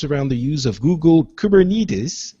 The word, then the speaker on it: Kubernetes: The foundation centers around the use of Google Kubernetes. Is that how you pronounced it? We checked before the show, and I already forgot. Someone who was showing this off on stage said Kubernetes. So Kubernetes. All right, let's go with that.